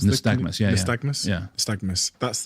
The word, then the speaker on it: nystagmus: Nystagmus, is that how you pronounce it? Nystagmus, yeah.